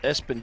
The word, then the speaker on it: Espn: it's creative guys because it's spelled ESPN yeah pronounce Espen I like it I do